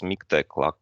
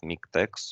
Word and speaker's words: MiKTeX: on the correct pronunciation it's miktex like latex it's not miktex or latex uh it's